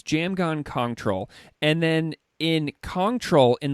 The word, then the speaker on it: Jamgon Kongtrul: of troll yeah yeah so the s in in that is silent and then the PR